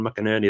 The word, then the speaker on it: McInerney: well go follow me McInerney that's how you pronounce my surname what else was going